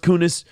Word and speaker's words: Coons: I mean, it's totally pronounced Kunis.